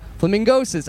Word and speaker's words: Flamingosis: And we're here with Aaron Velasquez, a.k.a. Flamingosis. I said it wrong. Flamingosis. I can't read, and Snakes corrected me.